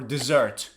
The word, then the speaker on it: dessert: Now, it doesn't rain in desert or dessert.